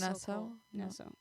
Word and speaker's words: Nassau: a cruise to the Bahamas and you're in Nassau, right? Am I saying it correctly? You should see the uh Pirates of Nassau Museum. Oh, so Nasso.